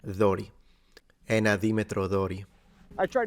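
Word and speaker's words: δόρυ: If you want to say it in Greek, it's Dori with the T, so the D is pronounced like the TH in father, Dori.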